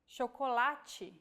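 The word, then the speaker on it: chocolate: like this seem to when paired with age forming the Digraph CH we have the sound shokolachi so as you can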